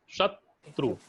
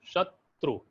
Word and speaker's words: शत्रु: श, शत्रु। आप उच्चारण करें तो रुकना पड़ता है ना, शत्रु, शत्रु।